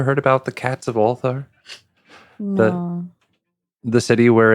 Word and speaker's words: Ulthar: Why is it spelled like it sounds?